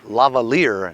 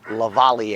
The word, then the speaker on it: lavalier: my subscribers told me it's pronounced lavalier not Lavallee eh whatever anyway my